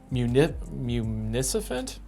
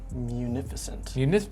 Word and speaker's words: munificent: Municipant? What the heck is that? Municipant? I do not know how to pronounce that.